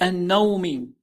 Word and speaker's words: النوم: Note we said النوم without تنوين in sound. Instead just E sound, single كسرة. This is because the word نوم has L sticking to it.